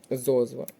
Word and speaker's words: зозла: девять неправильноне наголошене слово зозла оце слово пишеться з наголосом на першому складі інші слова правильно пізнання